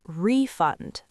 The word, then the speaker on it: refund: A refund. I would like a refund. But when it is a verb, the stress moves to the second syllable. Refund. We will refund your money.